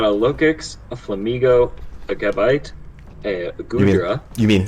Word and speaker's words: Gabite: So he's also got a Lokix, a Flamigo, a Gabite, a Goodra. You mean Habite? I'll take your word for it. It's like sorry, I was like pronouncing it like you would Gabriel. Habite.